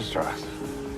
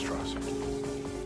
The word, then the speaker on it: Strauss: Strauss. It's pronounced straw.